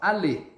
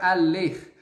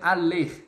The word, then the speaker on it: aller: Ou seja, quando eu coloco assim, ó, aller, esse é o verbo no infinitivo. E attention, mon ami, aqui a gente não vai pronunciar o R, tá? Então vai ficar aller.